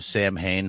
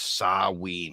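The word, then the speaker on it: Samhain: anything but like I came across the name Sam hay from danzig's band in the 80s you know like and I've always heard everyone pronounce it that way and uh apparently the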